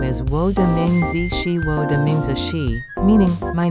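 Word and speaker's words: 名字: Ni is third tone, jiao is fourth tone, shen mi xian mi is second tone, mingzi is second and fourth tone.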